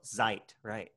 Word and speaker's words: Zeit: right good okay and e i is the i sound and i e is the e sound so what you basically do when you have an e i you look at that second letter and you say it in english right that's the letter i right in english so z zeit you look at that